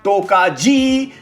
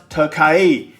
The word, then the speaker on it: Tokaji: Even if it's phonetically spelled as Tokaji, it's pronounced Tokaji.